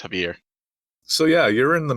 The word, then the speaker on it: Javier: i'm doing right now isn't working i said javier but it is pronounced heavier so yeah you're in the middle of uh